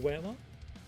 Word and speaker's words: Weimar: Is it Weimar? Am I pronouncing that right? Weimar.